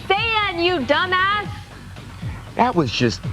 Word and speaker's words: Saiyan: It's Saiyan, you dumbass.